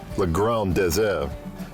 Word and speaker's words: Le Grand Désert: In the original French, the pronunciation is almost the same as the English, Le Grand Désert.